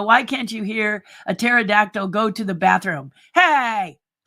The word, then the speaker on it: pterodactyl: Why can't you hear a pterodactyl go to the bathroom? Hey! The P is silent.